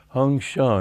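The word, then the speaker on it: Hong Sau: beginning it should be hong song i am he hong sha is the way they say it in bengal and so that's the way i prefer to pronounce that s.a.u hong shang and with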